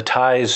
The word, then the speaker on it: Tyze: Yeah, and the TIES support networks. The TIES is spelled TYZE.